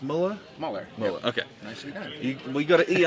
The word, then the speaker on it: Moeller: down with uh Chris Muller howdy is it pronounced Miller okay we've got to eat after it and